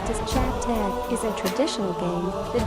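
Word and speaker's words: chapteh: Orchid, pronounced as Chat Tag, is a traditional game that was popular amongst children in the early to late 1900s in Singapore.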